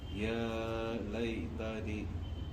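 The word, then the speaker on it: يا ليتني: सही तलफ्फुज के साथ बिल्कुल सही पढ़ो। या लई तनी और खींचना इसको।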